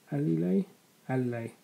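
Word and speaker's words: Alile: realized it's not early light spell ali ali ali lay officially lla um her name is spelled a l i l e do give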